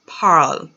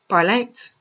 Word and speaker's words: parle: have il el pal il el parle is not par parle is not parlect el el parle when